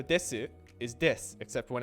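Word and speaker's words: です: there's nothing after it and you don't need to reactivate your voice box it's easier to say when you just say this so desu is this except when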